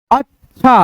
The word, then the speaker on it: अच्छा: पढ़ो, उस प्रकार से बोलो, उस प्रकार से उच्चारण करो कि उसमें अ का ध्वनि अबे न करे, नहीं आए बिल्कुल। जैसे अच्छा, अच्छा, अच्छा, अच्छा, अच्छा, अच्छा, ऐसे पढ़ोगे, पढ़ने का तरीका बिल्कुल गलत होगा।